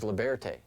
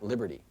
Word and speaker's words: Liberté: This is Liberté, not Liberty.